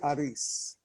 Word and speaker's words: Aris: to say it properly uh well I say ARIS correct yes yes okay well first of all